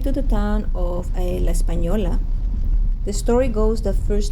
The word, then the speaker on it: Española: the town espanol which in english is mispronounced espanola but it is really in spanish pronounced espanola the town became a